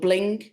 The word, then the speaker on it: BLINQ: Is it Bling or Blink? I can't spell it. I think it might be Blink with a Q.